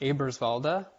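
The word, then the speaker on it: Eberswalde: like um this delta in particular uh is pronounced abrasvalda which is a from a german location and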